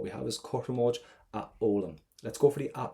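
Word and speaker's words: foghlaim: In Irish, never pronounce an FH. Always silent. GH. In the middle of a word, don't pronounce it. So what we're left is olam or aulam, whichever way you want to pronounce it. Irish is your language. So let's go for olam.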